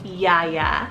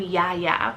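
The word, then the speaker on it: Yahya: back over to the boys side we have Yaya so y-a-h-y-a yeah yeah I have actually been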